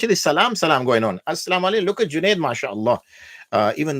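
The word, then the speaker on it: السلام عليكم: idgham, yani we do assalamu alaikum, and the lam disappears. It is not pronounced.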